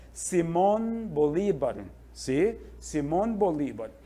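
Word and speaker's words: Simón: nome dele oficialmente é Simon Bolivar si sim BOL Aqui nós temos a tônica é a última Vocês estão vendo o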